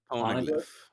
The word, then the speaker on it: Poneglyph: Poneglyph. Poneglyph. Poneglyph? Like waffle pone.